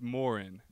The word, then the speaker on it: Morron: first stop on the list is the Pentel Morin house where we'll take a look at what life was like for peans back in the 1800s and yes folks it's pronounced Morin built by Moses pill in 1862 the Second